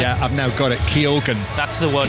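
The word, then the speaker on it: Keoghan: left hand side yeah I've now got it Keogan that's the one Keogan yeah that's why I was giving you a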